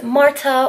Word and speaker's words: Marta: if you're new here my name is Marta or Mantha you can roll your R's all fancy but either way spine